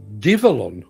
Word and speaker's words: Develon: Learned this morning, Develon is pronounced Divelon or Divelon.